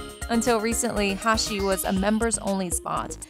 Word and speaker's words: 84: a former nintendo employee his cafe pronounced hashi can be written as 8 4 in japanese 1984 is when he